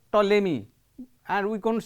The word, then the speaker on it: Ptolemy: scientist he is called ptolemy and we cannot say a p is not pronounced here we have also some